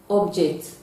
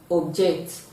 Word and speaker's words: object: Now the logic is, when a word is functioning as a noun and it is a disyllabic word, then you are going to stress the first syllable. But when it is functioning as a verb, it is going to have the stress on the second syllable.